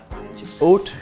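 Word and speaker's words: haute: Indian weather really hot go to Ooty kucher oat means high and couture literally means sewing both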